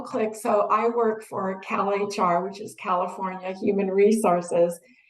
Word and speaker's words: CalHR: So for CalHR, we just hit the custom pronunciation and put CAL space H space R. And that way it will say Cal HR, the way that we want it to be said.